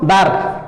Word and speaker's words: দ্বার: ল অ আসছে কিন্তু এখানে উচ্চারণ করো দ্বার দ্বার র উচ্চারণ করো দ্বার অ আসছে না তাহলে বোঝা গেল তাহলে